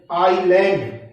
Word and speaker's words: island: इन शब्दों को देखते हैं, ISLAND, आईलैंड, इसमें S साइलेंट रहेगा, आईलैंड।